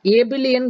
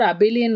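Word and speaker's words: Abelian: குரூப்போட பேர் என்ன சொல்லுவோம் அப்படின்னா ஏபிலியன் குரூப்னு சொல்லுவோம், ஆர் அபிலியன் குரூப்னு சொல்லுவோம், எப்படி வேணா ப்ரொனவுன்ஸ் பண்ணிக்கோங்க. ஸோ மேண்டேட்ரியா அந்த 4 ப்ராப்பர்ட்டி இருக்கணும், இருந்துட்டு அடிஷ்னலா கம்யூட்டேட்டிவாகவும் இருந்தால் அப்போ வந்து ஏபிலியன் குரூப் அப்படின்னு சொல்லுவோம்.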